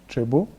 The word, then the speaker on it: Tresbeau: Yes, also on the on social media it's the same, TRESBEAU, Trebu. You say it like that.